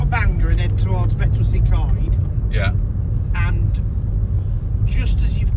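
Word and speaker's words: Betws-y-Coed: I say it as Betwsy Coed. Betwsy Coed, not Betsy Coed.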